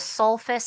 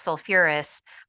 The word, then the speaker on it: sulfurous: that extra syllable so instead of sulfus acid it's sulfurous instead of phosph it's phosphoric but sulfur and phosphorus are